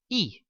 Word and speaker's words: y: know that the word and is this letter e okay it's actually the letter is but it's pronounced e so when we want to sayas